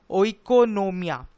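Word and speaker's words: οἰκονομία: से आया है और उसका ग्रीक प्रोनाउंस कुछ ऐसा है ओ इकोनोमिया व्हिच मींस मैनेजमेंट ऑफ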